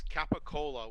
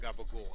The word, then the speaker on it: capicola: to answer your question it's capicola which is a type of ham in the northeast of the us italians call it gabagool it's the only place they call it that it's mispronounced i gotta do 10 push-ups